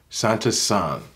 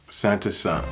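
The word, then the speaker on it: サンタさん: be Santa Claus and that will be pronounced Santa's son Santa Claus Santa son as far as traditions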